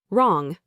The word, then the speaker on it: wrong: Wrong. You only hear wrong.